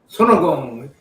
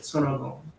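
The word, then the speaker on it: 손오공: Sonogong. That's how Korean pronounce it. Sonogong.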